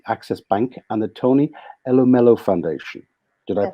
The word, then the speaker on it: Elumelu: Corporation, and the Access Bank, and the Tony Elumelu Foundation. Did I Yes, pronounce that correctly?